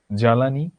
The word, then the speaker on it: জ্বালানি: শব্দের প্রথমে ব্যঞ্জন বর্ণের সাথে যদি বফলা থাকে তাহলে বফলার কোনো উচ্চারণ হয় না।